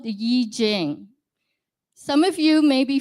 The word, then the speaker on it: I Ching: sent us a gift and it's called the Yi Jing some of you may be familiar with I Ching so it's spelled I and Ching c h i n